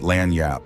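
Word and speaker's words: lagniappe: Laniappi, pronounced lanyap, is a Louisiana French word meaning a little something extra.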